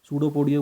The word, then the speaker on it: pseudopodia: सूडोपोडिया पे ध्यान देना कि जो हमारा पी है वो साइलेंट रहेगा.